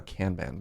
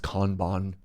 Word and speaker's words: kanban: And I know it's supposed to be pronounced Kanban.